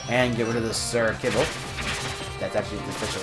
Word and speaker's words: Sir Kibble: And get rid of the Sir Kibble. That's actually the official pronunciation of the name.